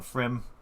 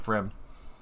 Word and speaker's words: Pfriem: it makes sense that that p in the front is silent so frim so from uh frim